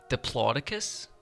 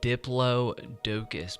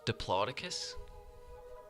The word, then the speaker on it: Diplodocus: dinosaurs and they said that it is it's pronounced diplo diploticus and like that just like blew my mind because I was like reading like hopeless diplodocus but it's just diploticus like I've been saying it like a total